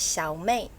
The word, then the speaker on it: Xiao Mei: One is the proper Chinese Mandarin way, which is Xiao Mei.